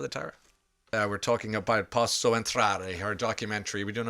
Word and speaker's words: Posso Entrare: We're talking about Posso Entrare, her documentary. Are we doing okay with the pronunciation?